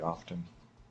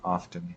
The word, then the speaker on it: often: the gamble window very often what you need and my third grade language ARS teacher would be disappointed with me for saying often with a t hello it's often the te is silent okay there Gamba hello